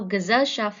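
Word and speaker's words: Gesellschaft: the word gazelle shaft so gazelle shaft has an Inseparable prefix good that is unstressed the suffix shaft that puts the stress on the second last syllable let us hear the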